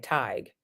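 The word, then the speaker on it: Tage: Tig is how it is said.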